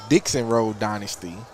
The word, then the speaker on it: Dixon Road Dynasty: He told me I was saying it wrong. It's called the Dixon Road Dynasty.